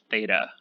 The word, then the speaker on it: theta: And we pronounce it theta.